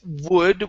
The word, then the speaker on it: wood: So it's the first one is wood. We need a good oo sound here instead of good. Okay, it's oo, wood, and then this word here is pronounced triumphant.